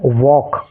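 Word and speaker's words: walk: डब्लू ए एल के इसको क्या पढ़ेंगे हम वॉक क्या पढ़ेंगे वॉक ठीक है एच ए एल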